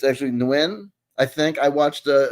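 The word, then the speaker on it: Nguyen: It's pronounced Nuin.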